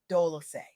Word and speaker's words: Dolci: I'm your host Dolci pronounced Dol-o-say, like sweet softness whispered in French.